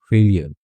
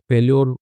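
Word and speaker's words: failure: फेलियर, फेल्योर इसका होता है प्रोनाउंसिएशन, लेकिन फेलियर की हम लोग पढ़ते आए हैं।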